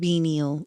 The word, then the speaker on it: venial: between mortal and venile sins will allow that helping someone cheat is not as bad as cheating. Oh, forgivable, pardonable or excusable? So, mortal unforgivable sins and venal. Does it say the pronunciation? Venal. Venal. So mortal and venial sense